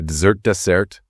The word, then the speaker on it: dessert: A dessert, stress on the second syllable, that's the sweet thing you eat after your main course.